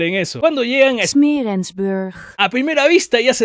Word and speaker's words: Smeerensburg: ¿Cómo se pronuncia esto? Smeerensburg.